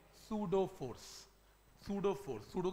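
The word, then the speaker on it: pseudo: इस छुपी हुई फोर्स को क्या बोलते हैं, सूडो force, सूडो force, सूडो का स्पेलिंग क्या है, हाँ सूडो फोर्स, पी छुपा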